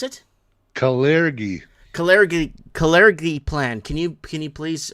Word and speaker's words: Kalergi: How do you pronounce it? Kalergi.